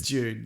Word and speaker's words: Dune: or anything like that we say it funny June June June it's June like s June June June yeah like the month but not spelled the same don't make that mistake so Mason what's this